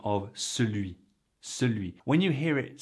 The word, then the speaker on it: celui: Celui. When you hear it said slow, it sounds just like that. Celui. In fact, for me, ce is pronounced the same as CEUX, C-E-U-X.